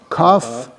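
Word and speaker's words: כּ: So cough cough cough with is a hard sound. Why? Because it has the dagesh.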